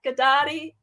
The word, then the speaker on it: Ghedotte: uh yes yes and my last name everybody sounds like karate it's gennady or pilates so jeanette gaddadi yes i'm a body